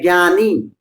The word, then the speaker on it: ज्ञानी: बोलने के लिए ज्य बोलेंगे, मूलतः ज और य मिल के बनता है, तो ज्य भी कुछ लोग बोलते हैं, लेकिन उसको बोलने प्रोनाउंसिएशन में ज्ञ बोलना ज्यादा है, मतलब ग और य के साथ जोड़ के बोलिए तो ज्ञ वो सही बोलने में प्रोनाउंसिएशन होता है।